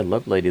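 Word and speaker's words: Lovelady: face Richard Lov lady Lov lady or love lady what an interesting name for a guy love lady see if I can get his picture yeah love lady that's how you say his name does he love one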